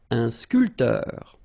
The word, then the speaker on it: sculpteur: Un sculpteur. Un sportif. Un peintre. Un photographe. Un journaliste. All right, so un barman. Un sculpteur. Same thing here. This P here is not pronounced. So, sculpteur, un sculpteur.